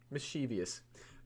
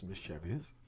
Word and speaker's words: mischievous: guy's mustache so mischevous mischievous did I just seriously pronounce that as mischevious people really like the